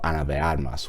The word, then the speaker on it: Ana de Armas: character and performance of Ana de Armas, which, by the way, that is the way that you say her name.